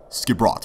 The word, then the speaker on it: Skipbrot: Skipbrot, okay. That's this how you pronounce it.